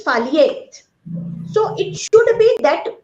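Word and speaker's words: phthalate: taking that particular product that pronunciation is foliate so it should be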